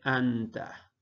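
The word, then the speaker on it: أنتَ: Luego tenemos un nun, una ta y otro fatha. Por lo tanto aquí dice anta.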